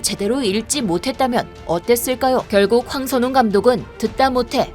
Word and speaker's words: 황선홍: 황선홍 감독이 9대0 대승을 기록하고 기자회견에 참석하자 진행자는 돌연 다음은 대한민국의 홍선홍 감독이라며 발음 실수를 저질렀습니다.